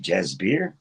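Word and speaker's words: Jasbir: The little boy was named, I think it's pronounced Jazbeer, and the name of the walk in man was Sobo Ram.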